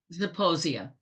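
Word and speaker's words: Zeposia: Uh so somebody has been on uh and we already I pronounced this earlier, but it's uh Saposia or is it Saposia? Zaposia.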